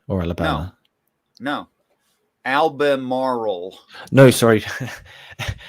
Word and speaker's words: Albemarle: that albuquerque did you say or alabama no albemarle no sorry albemarle where where is that north carolina north carolina